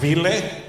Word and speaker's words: Vili: So, but it's pronounced Vili? Like Willie, but Vili.